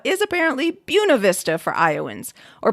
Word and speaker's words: Buena Vista: That list did include Madrid and Nevada, and some other examples are what non-Iowans would call Buena Vista is apparently Buena Vista for Iowans, or pronouncing what many English speakers would call Tripoli as Tripola.